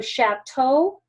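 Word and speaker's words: château: a chatau is chatau it's sh because it's pronounced like an sh so shatto and then you've got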